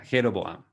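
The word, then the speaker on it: Jeroboam: norte que se llama jeroboám rejovot y jeroboám en castellano a veces pronunciar la jota jeroboám pero todo esto recordemos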